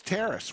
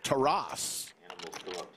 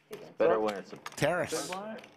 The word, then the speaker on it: Taras: uh we were asked how do you pronounce Terrace it is Terrace we asked him before the stream actually it's called Mike bet a few people that it's to Ross but Terrace confirmed with us how to pronounce his name Terrace many girls on the